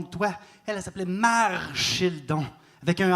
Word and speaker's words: Marchildon: Bonne prononciation mon nom de famille, j'apprécie. Marchild pas facile hein.